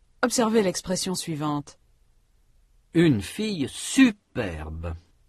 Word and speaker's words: superbe: Une fille superbe. Il y a un accent sur la première syllabe de superbe. Cet accent est surtout marqué par l'intensité. La syllabe est prononcée avec une plus grande intensité.